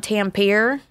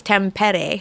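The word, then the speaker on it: Tampere: went to a place called now I can pronounce it right I used to call it Tam pier but it's temp Eddie so I went to temp at a flint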